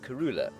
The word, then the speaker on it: Kurhula: Karula is spelt K-U-R-H-U-L-A. We, up till now, have spelt it Karula, K-A-R-U-L-A. This is, in fact, incorrect. The word, spelt as it is, has no meaning at all.